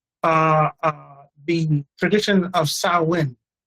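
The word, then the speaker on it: Samhain: Halloween comes from uh uh the tradition of sawin. Sawin is spelled s a m h a i n. It looks like Sam Hang, but it's pronounced sawin.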